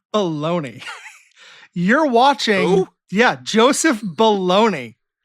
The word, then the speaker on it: Bologna: Joseph Bologna. Uh-huh. I even went I made sure I was pronouncing it right.